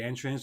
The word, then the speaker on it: entrance: So here basically what we're doing we're changing the stress more than changing the actual sound but it does sound different entrance entrance.